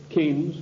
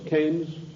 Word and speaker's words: Keynes: they sent john maynard keynes or keynes he said keynes was a better word because it arrived with it rhymes with brains and this is the